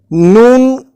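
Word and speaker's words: نون: words man camel room noon corresponds to the letter N in English and it is articulated exactly the same way as the sound na in these English words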